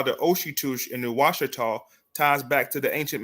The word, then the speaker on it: Ouachita: And pronunciation Ouachita came about as a result of French settlers because the French had settled Louisiana. Remember, the French under, what's his name?